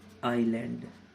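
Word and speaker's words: island: अब मैं आपको बता दूं silent S, silent S, एस कब साइलेंट रहेगा, एस साइलेंट रहेगा जब वो एल के पहले हो, एल के पहले हो, तब वो क्या रहेगा, एस साइलेंट रहेगा हमारा। जैसे कि, जैसे कि आईलैंड, एस क्या है, एल के पहले है, तो आईलैंड, एस का कोई काम नहीं है इसमें बोलने में।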